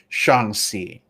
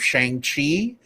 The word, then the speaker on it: Shang-Chi: lot of people are still falling into the trap of shang chi because that's just how we're used to seeing it and phoneticizing it but uh it's good